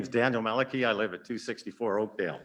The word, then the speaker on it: Mellecke: yourself because I think I said you're last name wrong my name is Daniel Maliki I live at 264 Oakdale good welcome thank